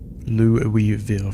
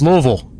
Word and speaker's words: Louisville: Louisville first time I went there I got real verbal beat down for saying it that way it's Louisville. You got to say it like you got a bunch of marbles in your mouth Louisville. Louisville will get you ran out of the city.